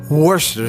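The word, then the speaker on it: Worcestershire: salt we also have Worster sauce it took me four years to pronounce that correctly Worchester Shire Worchester wer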